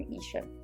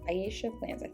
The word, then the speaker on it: Aisha Plans: and some days from Asia Aisha plans is how it's pronounced she's having a clearance